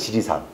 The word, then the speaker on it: 지리산: 우리 지리산이지, 지리산. 근데 한자 봐봐요. 원음이 뭐예요? 지, 달을 이자예요, 이게. 지이산이거든요. 근데 앞에도 이고 뒤에도 이가 되니까 발음이 불분명하잖아요. 그래서 니를 첨가합니다. 한자를 그렇게 써놓고 표기는 지리산입니다.